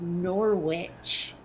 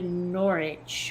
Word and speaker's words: Norwich: about the town of Norwich well that's the way it would have been pronounced by a vermonter but I'm pretty sure in Britain it's closer to norch or something I'm just going to